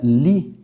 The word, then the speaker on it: líquido: A palavra líquido. Vamos lá. Líquido. Líquido. De fato, você vê que há uma saída de ar, Há uma entonação muito mais forte nessa sílaba. Agora, qual que é a posição dela? Ela é a última, a penúltima ou a antepenúltima? Última, penúltima, antepenúltima. Então, de fato, é uma proparoxítona.